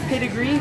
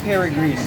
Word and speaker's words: Peregrine: And we actually said the name wrong earlier in the car. What did we say? We said pedigree, but it's actually Peregrine.